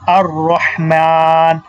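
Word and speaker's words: الرحمن: আল্লাহু আল্লাহু তারপরে হচ্ছে কি আর রহমান দেখেন আর রহমান মিমের উপরে খারা জবর আছে এখানে তাহলে কয় আলিফ টানতে হবে এক আলিফ টানতে হবে আর রহমান আর রহমান হায় উচ্চারণটাও এখানে দেখতেছি এবং মিমের উপর খাড়া জবর আছে এইজন্য একটানতে হবে এটা আমরা দেখলাম তারপরে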